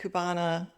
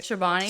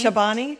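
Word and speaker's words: Chobani: And then I had some flavor that I added and just my my Kubana, is that how you say it? Shabbani. Chabani.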